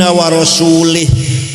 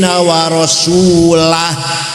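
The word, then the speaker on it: وَرَسُولُهُ: Kemudian ada orang baca Quran salah. Wa annallaha bari'um minal musyrikin wa rasulih. Allah tidak melindungi orang musyrik dan tidak melindungi Rasulullah.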